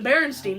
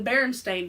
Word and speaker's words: Berenstain: like Mandela effect is the Berenstein bears or the berenstain bears however you want to pronounce it I always remembered